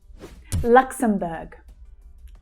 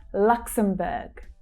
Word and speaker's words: Luxembourg: Luxembourg. Lux. So we have the k, s consonant sounds together. Lux. Luxem. Luxembourg. So that last syllable there is pronounced, the vowel sound is pronounced as in her. Luxembourg.